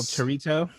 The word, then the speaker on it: Torito: At El Torito, and it's pronounced Torito. Excuse you, Torito.